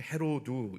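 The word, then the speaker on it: Ἡρῴδης: 원래 발음은 헤로두 이렇게 되는데 이 사람은 BC 40년경부터 4년경까지 제위했던 그런 이스라엘의 왕이거든요.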